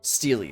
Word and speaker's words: Steely: of Stella D okay so steel is like a it's the same as Steel would you say Steely Steely that's right okay so it's a Steely the plural which is